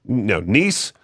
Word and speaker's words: Nice: a ticket to Nice, a coastal city in France, pronounced Nice.